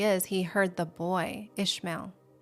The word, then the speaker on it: Ishmael: Ishmael. Ishmael's name is um Yesh. That's how you say it in Hebrew, which means God hears.